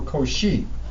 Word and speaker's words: Cauchy: Luis and then the last name once again one of those mathematicians whose last name I have been pronouncing incorrectly for quite some time you know listen up here he goes she who she or cauchy so I have artists